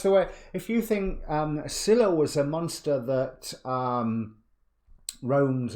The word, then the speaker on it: Scylla: in Scylla and Charybdis, or Scylla and Charybdis. I've always pronounced the C as a silent one.